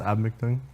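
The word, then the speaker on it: Eabametoong: Well, it's pronounced Abmictung.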